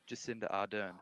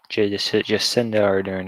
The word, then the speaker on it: Jacinda Ardern: How do you pronounce her name? Jacinda Ardern. Jacinda Ardern.